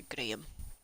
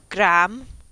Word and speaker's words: Graham: is named after a gram which reminds me Americans can't say the name gram properly y'all go gram which is no wrong see properly please I